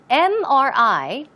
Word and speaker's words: MRI: Now also, notice, MRI, it starts with a consonant, right? But the M, when you pronounce the M, you pronounce it as M. It starts with a vowel sound, and that's why it